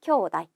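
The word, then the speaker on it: 兄弟: 쿄우 나이라고 해서 테이도 아니고 네도 아니고 나이라고 읽어줍니다. 형제는 쿄우다이 기억해 주세요.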